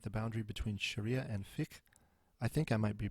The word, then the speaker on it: fiqh: Muslim scholars and jurists continue to debate the boundary between Sharia and fiqh. I think I might be pronouncing that wrong.